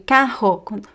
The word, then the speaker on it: carro: Okay, so the difference between carro with two r's and caro. Okay, they're different words, of course, different pronunciation of the letter r. So here is r. Caro. And here is h. Carro, carro. As I said, there are